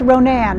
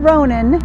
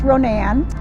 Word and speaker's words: Ronan: and yes it is actually the name is pronounced Ronan not Ronan Kim and I thought it was running when they first moved to Montana but it is pronounced Ronan it has about two thousand people here and